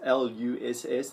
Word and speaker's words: Loess: or it's actually not, some people call it Loess or Luss, pronounced Luss, the Luss Plains, and that